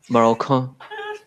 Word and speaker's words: Marocain: I like how Manny pronounced everything. Marocain. Marocain. That's what happens when you take French in school.